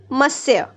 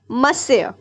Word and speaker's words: monsieur: Okay, so students, here are a few words in this chapter whose pronunciations we need to know. The first word is monsieur. It is the French word for Mr. Okay, monsieur.